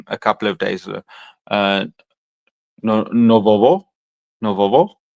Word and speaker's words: нового: Novovo.